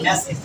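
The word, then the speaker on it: message: একাধিক সিলেবল যুক্ত শব্দে যদি এইচ থাকে, তাহলে এই এইচ এর উচ্চারণটা হবে লাস্টে ই সাউন্ড করবে।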